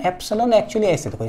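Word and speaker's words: epsilon: ये भैया ये क्या है ये इसको ना इप्सिलोन एक्चुअली ऐसे देखो स्पेलिंग इसका ऐप से लोन बोलते हैं एफसी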